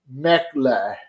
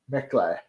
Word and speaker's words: Michelin: If you want to get fancy, pronounce it in the original French, Mechle. Mechle.